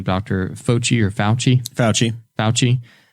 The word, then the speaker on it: Fauci: And as far as we know, with how do you pronounce his name, Dr. Fauci or Fauci? Fauci.